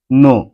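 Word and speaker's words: know: যেমন নো, কে এন ও ডব্লিউ, নো। এই শব্দটিতে কে এর পর এন রয়েছে, আর এখানে কে এর কোনো উচ্চারণ হয়নি, এন এর উচ্চারণ হয়েছে।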